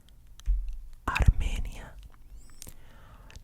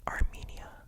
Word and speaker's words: Armenia: Now, in English, people will say Armenia, and whatever. For me, I think personally, you should say it in the Spanish way, even if you're speaking English, because it's in a city in Colombia. That's just my personal opinion.